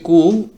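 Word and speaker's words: coup: তারপরে শব্দটি হচ্ছে কু, অভ্যুত্থান অর্থাৎ আপরাইজিং যেটাকে আমরা বলি, যেমন 5 আগস্টে ঘটলো অভ্যুত্থান, তো এখানে কুর এখানে কিন্তু যে শেষে যে পি আছে পির উচ্চারণটা হবে না।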